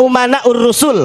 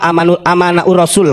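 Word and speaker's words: العلماء أمناء الرسل: Al-ulama umana'ur rusul. Walaupun si Bahar salah bacanya. Bukan al-ulama umana'ur rasul. Al-ulama amana'ur rasul katanya. Goblok, itu bukan pinter. Bukan amanah, umana, saya benerin ya.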